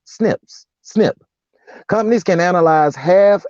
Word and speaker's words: SNP: single nucleotide polymorphisms or SNP's pronounced snips snip companies can analyze